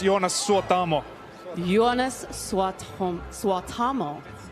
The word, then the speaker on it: Suotamo: Ladies and gentlemen, Jonas Suotomo. Hi, how are you this evening? I'm very good. It's pronounced Jonas Suotamo.